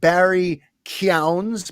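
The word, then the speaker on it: Barry Keoghan: the batman we got that little glimpse of barry kyown's by the way that is how it's pronounced even though it's spelled kogan keegan whatever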